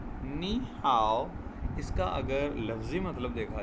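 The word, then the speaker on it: 你好: अब Chinese language के अंदर इसको किस तरह से प्रोनाउंस किया जाता है जब दो लोग आपस में मुलाकात करते हैं। नी हाओ, नी हाओ, नी हाओ।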